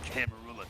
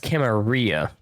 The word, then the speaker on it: Camarilla: Some people think it's pronounced Camarilla. If I'm correct, this game was officially endorsed by White Wolf, so it is probably canon to be called Camarilla. Kid, I never answered to no man in life.